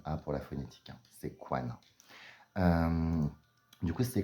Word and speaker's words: Sequana: W A n a pour la phonétique c'est Kanana euh du coup c'est kanwana ce qui est intéressant c'est que benah on